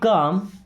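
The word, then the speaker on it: calm: Keep काम। देखिए keep का मतलब होता है रखना या रहना। अब यहां पे एल साइलेंट।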